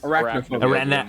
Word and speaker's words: arachnophobia: I think that's arachnophobia. Arachnophobia. I knew I was missing a syllable.